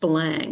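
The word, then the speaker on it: Belém: There's well I can't think of what it is but there well balang um it looks it's spelled blem but it's pronounced balang it's a it's a it's where the the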